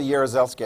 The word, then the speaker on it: Jaruzelski: I'm not even pronouncing that correctly, except for Jaruzelski. I've heard that enough times to know that's how that's pronounced correctly, but his first name, yeah.